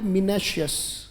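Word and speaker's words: minacious: एक वर्ड आता है बोले मिनेश अस बोलना पड़ेगा बेटा जैसे मिनेश अस आइज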